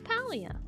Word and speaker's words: Palia: Says paleia. It's not paleium that you harvest from the rocks. Palium. Paleia. Like palia better. Exactly. I know. The devs for some reason insist that their game is pronounced differently.